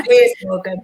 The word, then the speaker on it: Piers Morgan: before, and correct me if I'm pronouncing his name wrong. Is it Piers Morgan? Is that how you say his name? Yeah. Yeah, Piers Morgan.